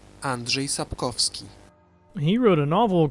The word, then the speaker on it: Andrzej Sapkowski: by a Polish author and his name is pronounced Andre sap kovski he wrote a novel called The Witcher that's